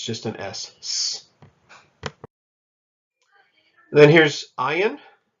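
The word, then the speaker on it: ayin: an essence then here's ayan ayan is another silent letter just like we had a life that was a silent letter in your transliteration of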